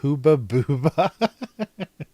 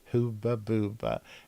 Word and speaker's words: Hubba Bubba: and Hubba Bubba, and the U in Sweden is always ooh. So they asked me, so you're supposed to pronounce this Hooba Booba.